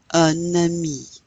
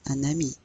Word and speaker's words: un ami: But a friend, we would say un ami. Now you pronounce that N, un ami.